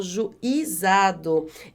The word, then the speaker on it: juizado: Os meninos abandonados foram conduzidos ao juizado. Esse acento circunflexo está errado, porque a sílaba mais forte não é esse I de juizado. Olha só, a sílaba mais forte é o zá.